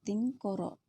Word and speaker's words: tingkoro: Nah, meskipun dalam penulisan lontaranya tikoro, tetap lafalnya tingkoro.